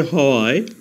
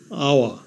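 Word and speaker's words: hour: উচ্চারণ করলে হয় হনারেবল কিন্তু এইচ এর উচ্চারণ না হয়ে ভাওয়েল ও থেকে উচ্চারণ শুরু হয়েছে অনারাবল এইচ এর উচ্চারণ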